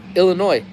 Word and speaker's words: Illinois: Um, People say Illinois is wrong. The S is silent. Oh yeah, Illinois.